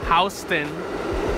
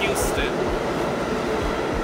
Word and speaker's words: Houston: People really thinking this is called Houston instead of Houston.